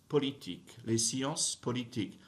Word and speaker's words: politiques: La géographie, les sciences politiques, don't pronounce final consonants, right? So don't touch that S at the end of science. Don't touch that S at the end of politique.